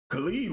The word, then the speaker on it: Khalid: But Khalid was singing his entire set.